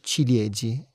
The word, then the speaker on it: ciliegi: Se dice chiliegi. Ch cil chiliegi. ¿Conocií? No. ¿Cómo se dice en español ciliegi.